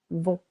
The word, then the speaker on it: vont: Vont. Silent T.